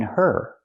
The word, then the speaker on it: her: sound in of because we don't pronounce the H in her. We link the sounds. Get out of her. Now it's a vowel. Out of her. Not out of her, the H is silent.